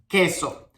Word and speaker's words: queso: So when you put Q and U plus I and E, you say que, ki. One of the examples we have here is queso, queso.